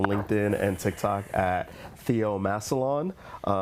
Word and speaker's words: Massillon: Massillon.